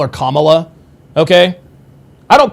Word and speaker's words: Kamala: being mentioned in the, to being mentioned by Kamala Harris. And by the way, guys, I don't call her Kamala Harris, or I don't call her Kamala, okay?